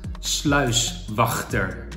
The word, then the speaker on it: sluiswachter: Boat Loock Guard now you have to put some pressure on the G is Ty Dutch is to spit then get the Beautiful word sluiswachter I Can't wait to